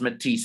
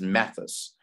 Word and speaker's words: Matisse: It's pronounced Matisse, and the reason is because I pronounced it when I commentated on its first run when it beat Lemmy Go comfortably. I pronounced it as Mathis, but I think it's a French word, Matisse.